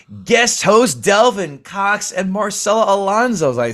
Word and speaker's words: Marcela Alonso: Marcela, my dear, Marcela I'm sure I get to pronounce your name right. Marcela Alonso, excuse me.